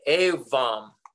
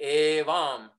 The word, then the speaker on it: Evam: Tibetans often pronounce like Awam.